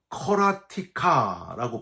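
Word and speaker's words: קְרָאתִיךָ: 1절에 부르짖었나이다 라는 단어는요, 커라티카라고 발음을 하고요, 2절에 부르짖는은 타하누나이라고 발음을 합니다.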